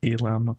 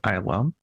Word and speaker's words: Islam: is islam and you pronounce it i love not elam or islam it's islam and be warned i